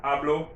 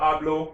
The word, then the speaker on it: hablo: the words hablas habla hablo remember spanish those ages are silent so just like if it isn't there so yes i speak